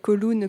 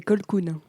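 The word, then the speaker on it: Colquhoun: plu oui oui bah tu as dit coloun comme un colon mais c'est c'est colkoun ah ouais bon ah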